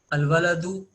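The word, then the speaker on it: الْوَلَدُ: Al-waladu, here waladu is starting with waw, and waw is from al-huruful qamariyah, means while pronouncing this word we are pronouncing lam also. We are not omitting lam in its pronunciation.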